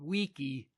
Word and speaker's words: Vici: The Britons, however, who of course still use the old pronunciation, understanding him to have called them weenie, weedy, and weaky, lost heart and gave up the struggle.